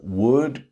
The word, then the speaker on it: would: The same three words would, could, should, the L is silent. Okay.